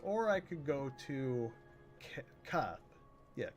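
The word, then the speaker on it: Kaathe: Or I could go to Koth. Yeah, Koth is how you say it.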